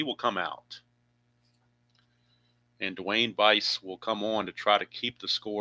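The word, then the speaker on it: Buice: Dwayne Bice. The U is silent, I was told. So Dwayne Miami Bice is loosening in the bullpen for California.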